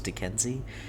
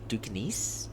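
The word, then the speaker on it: Duquesne: uh I was thinking I always thought it was D Kenzie but I think dukin is how they really pronounce it I could be doing it wrong both times but BYU's going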